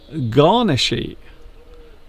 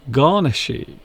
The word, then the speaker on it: garnishee: You pronounce this garnishy. Garnishy.